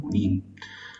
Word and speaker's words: Junín: Para Junín, termina en N y es aguda, lleva tilde, ¿no? Junín.